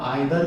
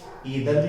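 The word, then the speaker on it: either: हम आइदर को ईदर भी प्रोनाउंस कर सकते हैं और नाइदर को नीदर भी कर सकते हैं।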